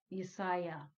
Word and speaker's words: Yesiah: He spells his soul's name as Jesiah. Yesiah. That's how he's pronouncing it.